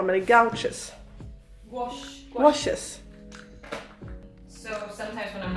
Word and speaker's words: gouache: Hur uttalar man det? Gouaches.